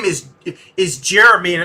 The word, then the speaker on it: Gerimi: my name is is jeremy and it's a really weird spelling when most people see it they think it's gemini but it's spelled g-e-r-i-m-i it's just jeremy like the pearl jam song nothing to do with